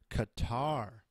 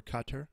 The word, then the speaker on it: Qatar: global standards average income Qatar or Qatar depending on how you say it GDP per capita adjusted